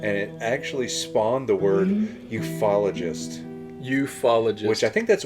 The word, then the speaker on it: ufologist: Ufologist.